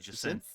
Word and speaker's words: Jacinth: Jacinth? Yeah, that's what I was saying. Jacinth. You know, like Ja and Ivor. Synth.